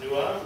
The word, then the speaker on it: Nuo: me that new which I think he's actually pronounced newa but don't call me